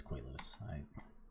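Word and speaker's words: Koilos: Is it Koileos or Koileos? It is Koileos.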